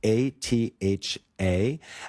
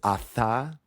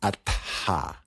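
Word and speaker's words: अथ: if I'm technical, is atha. So you pronounce the T and the H separately. So there's not like a th sound like in Seth.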